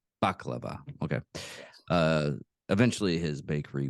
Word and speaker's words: baklava: much cyanide in their uh, biscuits or their Bolivia, containing too many shards of glass. Eventually, his It's pronounced baklava. baklava.